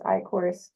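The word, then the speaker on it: Eichorst: Yes, I work for um I work with Tom and my last name is Ior. It's spelled E I C H O R S T.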